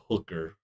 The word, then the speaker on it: DHUKR: But we moved down just a couple more booths, and that's when we found the hooker, which is spelled DHUKR.